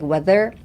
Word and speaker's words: weather: Even when I'm saying it fast, like weather, I feel that slight vibration when I'm saying it. So, weather. ですね。weather. It's easier to pronounce the R if you put a lot of strength in the TH, the weather, and just like spit it out after trying to pronounce the TH.